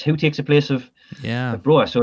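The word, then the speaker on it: Broja: Yeah, nicely swerved his name because I'm not entirely sure how you pronounce it. Is it Broer? Broer, yeah.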